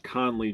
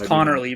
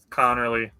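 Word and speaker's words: Conerly: A much easier name to say Josh Connley Jr. out of Oregon. You mispronounced it. It's Connorly, bro. Connorly.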